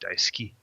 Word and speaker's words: Daisuki: Daisuke site gusto well you also don't pronounce the U it's Daisuke yeah I subscribe to